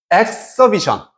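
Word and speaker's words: exhibition: 엑서비션 그렇지. 우리 이그집하고 똑같아. 어, 근데 발음은 이때는 비션으로 바뀐다.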